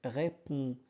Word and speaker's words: répond: D ne se prononce pas. Donc répond en.